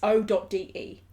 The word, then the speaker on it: Ode: I believe it's pronounced Ode. It's O.de. I believe he says it Ode, because I did watch